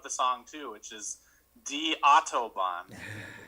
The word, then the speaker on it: Die Autobahn: And then I think, came up with the name of the song, too, which is Die Autobahn. Correctly pronounced, yes.